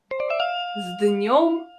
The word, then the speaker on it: С днем: As you can see, the consonant S in this situation is pronounced as Z.